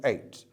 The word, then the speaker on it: eight: learners make mistakes when it comes to eight they're silent letters there how does one a